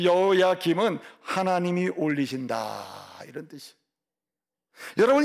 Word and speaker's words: 여호야긴: 이 여호야김, 이게 18대 왕. 여호야긴, 김이 아니고 긴. 여호야김, 여호야긴.